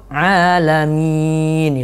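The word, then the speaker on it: العالمين: Nga dia baca bukan a. Harusnya dia baca itu alamin itu.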